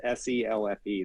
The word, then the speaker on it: Selfe: It's Selfe, and it's Selfe. There's an E on the end, and the E is silent.